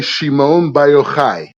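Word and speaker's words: Shimon bar Yochai: Rabbi first of all say his name correctly Rabbi Shimon biochai okay that's that's how we say it in Hebrew so the the the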